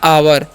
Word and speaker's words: our: आगे बढ़ते हैं, आगे क्या लिखा हुआ है ओ यू आर, तो ओ यू का उच्चारण यहाँ पर आव होता है, आर का र, तो हो गया आवर।